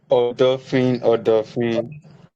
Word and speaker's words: Odofin: Is it Odofin or Odofin? Odofin. Odofin, okay, awesome. So thank you for correcting me there.